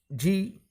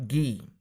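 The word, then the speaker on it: Gee: देखिए स्टूडेंट्स, यहाँ पर जो पैसेज स्टार्ट हुआ है जी ई ई, जिसका सही प्रोनाउंसिएशन है जी, नॉट गी।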